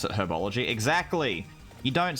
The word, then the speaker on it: herbology: but i pronounce it herbology exactly you don't say arabology what class have you got next arabology you say herbology because there's a h there herbivore exactly you